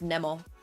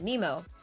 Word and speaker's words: Nemo: Like, when I was living in France and then living in Finland, it was always pronounced Nemo. It was really only when I moved to, like, Canada that people actually started pronouncing it Nemo.